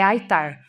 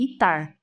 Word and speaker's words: ITAR: dos Estados Unidos então a pronúncia que eu sempre escutei é aar aqui no Brasil eu já ouvi algumas pessoas falarem itar não tem problema é mais